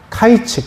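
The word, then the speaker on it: קיץ: 여기 여름 과일이라는 단어가요. 히브리어로 어 타이치라고 해요. 근데 그 2절 말씀에 똑같이 나오는 끝이라는 히브리어 단어는요. 캐츠라고 하거든요. 카이츠 캐츠. 발음도 비슷하잖아요.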